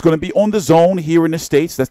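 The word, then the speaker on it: DAZN: or so your time it's going to be on the Zone here in the states that's the $999 stream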